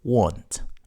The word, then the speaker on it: want: or preceded by two in spoken English want is almost never stressed whereas won't is by the way this